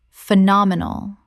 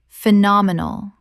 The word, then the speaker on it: phenomenal: Common mispronunciation, phenomenal. Correct pronunciation, phenomenal. Four syllables with the stress on the second.